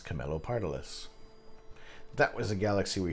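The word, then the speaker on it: Camelopardalis: for now this video shows you how to pronounce camilo pardolis that was the galaxy we shot in that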